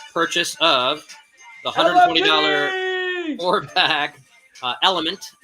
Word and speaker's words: LMNT: And don't forget, I'm giving away free assessments with any purchase of the $120 4-pack Element, pronounced Element, spelled L-M-N-T, pronounced Element.